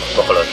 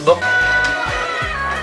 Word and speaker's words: Bacolod: Bacolod? Is that how you say it? Bacolod. Yeah. Bacolod. Bacolod. I'm almost done with mine. It's Bacolod.